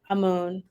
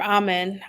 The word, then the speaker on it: Amun: So she said her father was the god Amun or Amen, depending on how you pronounce it.